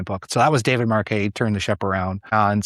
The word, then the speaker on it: Marquet: You know, David Marqu, it's it's spelled like Marquette, but it's pronounced Marquet and you can find his stuff on there.